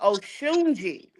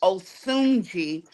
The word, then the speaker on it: Osunji: So I am pronouncing it wrong. The Africans told me my name is Oshunji. Oh But Shunji. yeah, but my grandmother named me Osunji. So I'm gonna stick with that.